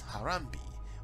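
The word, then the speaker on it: Harambee: a sense of national unity using the motto pronounced as harambe which is a swahili word for pulling together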